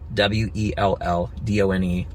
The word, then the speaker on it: Welldone: Funny thing is uh well done is actually how my last name is pronounced but it's written different.